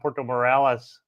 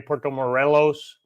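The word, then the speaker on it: Puerto Morelos: I kept saying uh Porto Morales the whole time. So, I'm still learning, you know, like uh everybody else. Not perfect. Still learning. I kept pronouncing Porto Morelles wrong. It's actually Porto Morelos.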